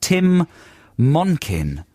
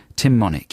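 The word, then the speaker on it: Tim Monich: And it's got a huge article all about this guy called Tim Monkin. Monick? No, Tim Monick. I said that totally wrong. Tim Monick, yeah, rhymes with gin and tonic.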